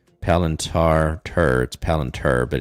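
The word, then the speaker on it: Palantir: l i n t a r palantar turds palantur but it's pronounced palintar palenter and bitcoin i want to see if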